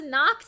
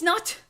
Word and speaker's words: Nacht: How did you pronounce Nacht?